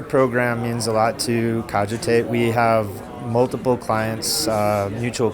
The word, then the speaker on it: Cogitate: I don't even know how to pronounce it. Cogitate? Cogitate. Cogitate.